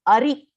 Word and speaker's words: ari: Which is Muras Ari. Ari means enemy. So Hari is Bhagavan, Ari is enemy. That's why pronunciation in Sanskritam we should be very careful, So A-R-I, Ari is enemy.